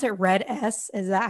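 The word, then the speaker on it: RED-S: disorder eating a little bit and do you pronounce it red s is that how it's said yeah okay i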